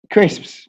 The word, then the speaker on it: crisps: For example, the first S is non-existent.